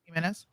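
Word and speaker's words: Gimenez: Carlos himz is that how you say it heenez uhuh heenez a Florida said that he would not support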